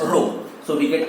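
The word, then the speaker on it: ρ: add is this okay this is pronounced as rho so we get r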